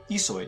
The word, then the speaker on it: Ihsoy: That's Ihsoy pronounced.